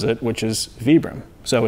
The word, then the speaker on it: Vibram: i go by the way that the founder pronounces it which is vibram so it's actually vapor well it's acceptable it's